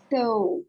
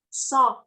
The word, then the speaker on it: saw: So. Yes. The pronunciation is saw. So. Saw. Saw. So. Yes. Saw. Not so. Saw. More open.